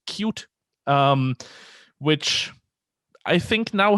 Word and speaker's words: Qt: alternatives there's things like qt or i'm sorry i recently found out that it's actually pronounced cute um which i think